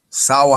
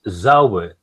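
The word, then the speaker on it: Zauber: Sour handwriting. Sauber. Yeah, as you can see it in the top? Yeah. It says Sauber.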